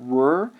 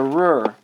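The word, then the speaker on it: Ruhr: the north uran plane is home to the r this is a region in Germany that is very rich in Coal that fueled industrialization this is spelled r u HR the r also this North European plane is extremely fertile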